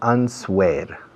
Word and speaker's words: answer: La palabra contestación o respuesta se escribe answer. Ahora, por favor, no utilicéis la W, es muda.